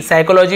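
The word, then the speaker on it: psychology: फिर साइकोलॉजी हो गया हम पी से स्टार्ट करते हैं जी हां पी से प लगाएंगे उसके बाद हम यहां पे लिखते हैं एस वाई सी एच ओ एल ओ जी वाई साइकोलॉजी अब बताइए अब यह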